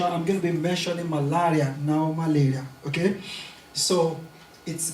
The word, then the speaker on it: malaria: the right pronunciation of the word malaria so in the course of this presentation I'm going to be mentioning malaria now malaria okay so